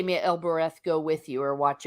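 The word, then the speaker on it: Elbereth: heard himself crying aloud oh el bireth giffen now i'm probably mispronouncing that so he calls out to elbarath and el bereth yep thank you okay you can say it better than i can so again part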